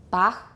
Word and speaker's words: Bach: Right, and you're saying it correctly because this is a h sound. It's a voiceless velar fricative. Do we have the h sound in English? No. Why do we put it here? Because it's a foreign name, and it's a very well-known foreign name and widely respected, so We respect him so much that we actually pronounce that weird sound we don't have.